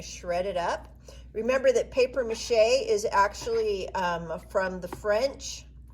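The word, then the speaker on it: papier-mâché: i'm going to shred it up remember that paper mache is actually from the french and uh it's spelled papier p-a-p-i-e-r mache m-a-c-h-e with the little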